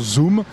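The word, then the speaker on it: Xoom: Voilà, ça s'écrit Zoom avec un X mais en fait ça se prononce Zoom et c'est une tablette particulièrement évoluée.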